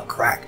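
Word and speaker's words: craic: course, go forth and have the crack. Good food, good drink with good friends. It's spelled like C-R-A-I-C.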